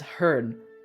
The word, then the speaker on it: herd: Another one is herd, which doesn't rhyme with beard, but rhymes with bird.